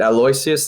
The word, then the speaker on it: Aloysius: Whether it's the first two tracks or Persephone or is it Aloysius that's near the end of the track list, or is that the second track?